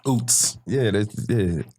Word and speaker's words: Ouzts: Like, that's, Ouzts. Ouzts. So how do people usually pronounce that when they try to say it?